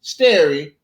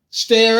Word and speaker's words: stare: pronunciation for stare decisis Clarence Thomas pronounced stare like the word for a clear night Sterry while senator Orrin Hatch said it's Terry and Senator Patrick Lee stare a legal lexicon what's